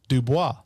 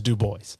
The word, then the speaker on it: Dubois: And it would normally be pronounced Dubois.